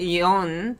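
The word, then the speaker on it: 四: You can pronounce it yon, but you can also call it she in certain like circumstances. You call it she, and she literally means death.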